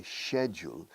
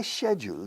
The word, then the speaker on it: schedule: Two pronunciations, British and American. The British para horario programa, my schedule. My schedule today. Schedule. Americano, schedule. La SCH normalmente se pronuncia como SK. Escuela, school. Pero hay algunas excepciones. The British exception, schedule. But they don't say shul, they say school.